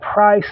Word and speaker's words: Pyerse: Price is PYERSE. So I just wanted to get that out to clear up the misconception. It's not spelled price as in price tag. It's not spelled PRICE. It's spelled price, PYERSE.